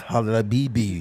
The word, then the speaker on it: Habibi: He's like, no, it's Habibi. It's real specific. You gotta use that back of your throat.